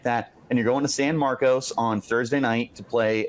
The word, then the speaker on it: San Marcos: and you're going to San Marcos on Thursday night to play a very quality Texas State Lev do it correct him level how do you pronounce it it's San Marcus and this is the